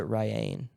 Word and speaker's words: Riane: Mostly people just call me Rain when they look at my name. Rain or Rainy. I would pronounce it Ryan. Yeah, I always say it like it's spelled like Diane but with an R.